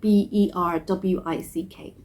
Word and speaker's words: Berwick: It's spelled Berwick, like B-E-R-W-I-C-K, but it's pronounced Berwick.